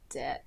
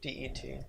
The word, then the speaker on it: debt: Unless you want to be in debt. I can't say this word properly. Debt? It's just debt. You don't pronounce the B. It's just DET.